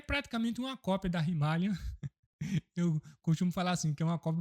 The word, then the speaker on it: Himalayan: a Royal Enfield Himalayan, ou Himalayan como chama aqui, lá na Índia se pronuncia Himalayan.